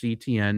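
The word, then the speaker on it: Etienne: So remember they went and got Travis ETN, pronounced ETN, not pronounced any other way.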